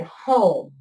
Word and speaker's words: home: Now, what I really need to do is write the word home. Starts with an H, O, M. And then it has what I call a silent E at the end.